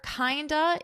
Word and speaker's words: kinda: In music, it's very common to reduce certain words for pronunciation purposes because it flows smoother. Kinda is a reduction of the word kind of.